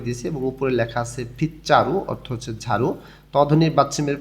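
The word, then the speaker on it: 빗자루: এবার তার পাশে এখানে ঝাড়ু দেখা যাইতেছে, গোল চিহ্ন মার্ক করে দিয়েছে এবং উপরে লেখা আছে ফিচ্চারু অর্থ হচ্ছে ঝাড়ু। তধনির বাচ্চিমের পরে যখন জিউত আসে তখন জটা চ উচ্চারণ হয়।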